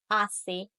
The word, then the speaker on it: hace: You should have had a silent H like hace, hielo, huracán.